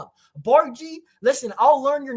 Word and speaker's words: Bardghj: So, you pronounce it as Bargie.